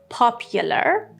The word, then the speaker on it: popular: And number 9, popular. Popular. He's a popular figure. Popular. But the noun is popularity. Popularity. Or the British pronunciation, popularity. These U letters are pronounced with the schwa sound.